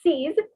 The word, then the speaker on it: six: you can see that six was c's and ten is these so see they both are rhyming so c's and these